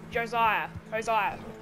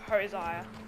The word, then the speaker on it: Hosea: Josiah. I think Arthur pronounced it Josiah, but I pronounce it Hosiah.